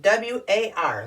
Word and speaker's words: war: this case no no we pronounce w a r like it's an o r we pronounce it war